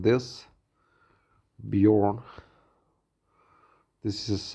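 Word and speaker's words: Björn: My name is Bear, as it sounds, the animal in Swedish also Bear, is pronounced like this, Bjorn.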